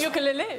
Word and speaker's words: ukulele: It, because your chosen instrument is the ukulele. Yes. Since when is it called ukulele? That's how it's actually pronounced.